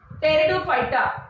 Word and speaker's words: Pteridophyta: Though it is Pteridophyta, it is pronounced as Pteridophyta.